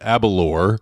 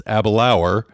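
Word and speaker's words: Aberlour: that i stayed in i kept calling it abalore because that's what it looks like to me it's spelled a b e r l o u r and so abelore nope that's not it it's abilauer and so is this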